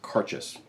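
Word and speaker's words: Cairdeas: c-a-c-a-i-r-d-e-a-s and it's pronounced karchis like car chase um so that's gay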